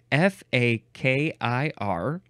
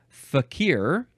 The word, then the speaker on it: fakir: one the pronunciations are fakir or F okay so the first three versions are you're emphasizing the second syllable fakir fakir fakir FF fa